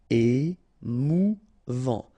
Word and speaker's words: émouvant: Émouvant. Final T not pronounced. A-N together. En. Émouvant. Émouvant.